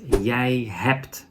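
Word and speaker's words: je hebt: is you in Dutch that is yay is pronounced as yay hapt so we need an extra T but there's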